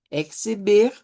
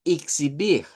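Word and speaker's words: exibir: Aquí, sí, estas EX pueden sonar diferentes, porque en Brasil lo que comienza con E se puede pronunciar con I o con E. Entonces yo puedo decir exhibir o puedo decir exhibir. Puedo decir exhausto o puedo decir exhausto. Podemos cambiar ese sonido.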